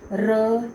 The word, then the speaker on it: र: अब र की जब बच्चे प्रोनाउंसिएशन बोलेंगे, र आप खुद उच्चारण करके देखें, जब प्रोनाउंस करके देखें तो र हमारी जो टंग है वो वाइब्रेट कर रही है, र।